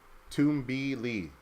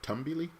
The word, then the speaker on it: Tumbili: Apparently, they changed the official pronunciation to Tumbili. What was the pronunciation before? Tumbili?